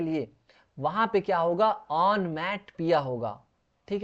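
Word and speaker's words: onomatopoeia: Next देखिए ऑन मैट पिया। ऑन मैट पिया या ऑन मैट पोया। तो यहां पे आप इसका प्रोनाउंसिएशन पढ़ेंगे।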